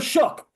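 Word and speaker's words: Shough: all these names and we've been butchering Tyler we've been saying or and nope Tyler shook so that or shook so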